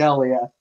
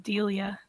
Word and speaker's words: Delia: character, it's pronounced Delia. Delia. Delia. My bad. Delia. All right. Like I'm going to deal you some cards.